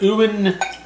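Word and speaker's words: Euan: from isla from creator owen campbell i assume it's how you say it e-u-a-n i will accept any combination of vowel sounds sure this whiskey is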